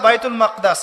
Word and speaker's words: বাইতুল মাকদিস: এবার এই বোরাক চলে গেল বাইতুল মাকদাস। এটা কোথায়? বাইতুল মাকদিস, বাইতুল মাকদাস না, বাইতুল মাকদিস। বিভিন্ন মানুষ বিভিন্ন উচ্চারণ করে।